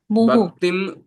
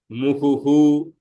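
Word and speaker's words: मुहुः: okay, muhu. Bhaktim muhu pravahatam. Okay. But if I am just saying individual word step by step, I would say bhaktim muhuhu full visarga.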